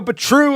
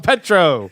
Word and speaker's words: Petrou: Damn, I thought You're emphasizing the true. Yeah, he's putting the accent on the wrong syllable.